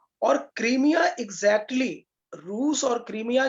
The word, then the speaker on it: क्रीमिया: Ukraine से सटा हुआ एक हिस्सा है जिसको कि क्रीमिया कहते हैं, कई लोग उसको क्राइमिया भी प्रोनाउंस करते हैं।